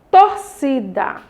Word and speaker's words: torcida: Próxima, torcida. Torcida. Qual foi que a tia falou com mais intensidade? Torcida. Olha só. Na torcida, nós temos o si. E a sílaba tônica dela, ela é chamada de paroxítona.